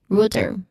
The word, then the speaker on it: router: The common mistake of router um uses the thong as in row row in the first syllable. So the correct pronunciation it uses the u vowel sound as in root.